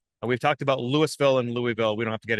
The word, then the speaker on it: Louisville: You know, there's a umpteen dozen ways to pronounce Louisville. And unless you've got a pinch between your cheek and your gum, you never say it right. Like a native. So Louisville. So we were just talking